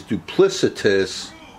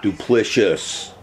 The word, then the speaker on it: duplicitous: Oh, and by the way, the pronunciation of the word, I believe, is duplicitous. Jeff Cracker Session is duplicitous and not duplicious. At least that's how I understand it.